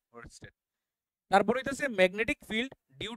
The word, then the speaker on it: Oersted: আর এর উচ্চারণটা আইব, ওয়েস্টেড।